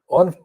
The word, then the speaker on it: Waugh: The actual broadcast is starting a minute or so after that. On page 15 of the I newspaper, there is a piece by Paul O, that is spelled like Evelyn O, Waugh, Paul O.